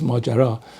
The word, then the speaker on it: Majara: On the Majara project, let's pronounce it correctly, it's Majara.